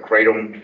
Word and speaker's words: kratom: Kratom. Kratom, yep.